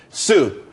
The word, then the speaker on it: Tsu: everyone could be happy Sue CSU it's pronounced Sue though that's a that's